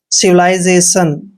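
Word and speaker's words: civilization: सिविला ऐसे से पहले जब भी आई आता है तो एस का उच्चारण ज करते हैं और ए को एक की मात्रा पढ़ते हैं टी आई ओ एन का उच्चारण शन करते हैं सिविलाइजेशन सिविलाइजेशन का मतलब होता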